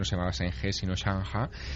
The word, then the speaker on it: Zheng He: Allí no se llama Zheng He, allí se llama Chang Ha, que es...